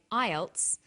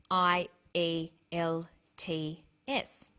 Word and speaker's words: IELTS: is called an acronym with an acronym we don't pronounce the individual letters we pronounce it as a word so we say IELTS not i l t t s some other examples of